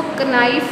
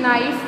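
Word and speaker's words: knife: तो यहाँ पे ये बात याद रखें जो नाइफ में क है वो साइलेंट है, यानी बोलने में जो है वो क यूज़ नहीं होगा लेकिन लिखने में होगा, ठीक है। इसको हम बोलेंगे नाइफ।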